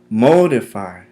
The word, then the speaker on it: modify: Modify has three syllables. Modify. Modify. Modify. The accent is placed mostly on the first syllable.